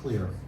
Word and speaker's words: Xlear: If you get Clear, you can get it at Sprouts, you can probably buy it on Amazon. It's Xlear, is how it's spelled.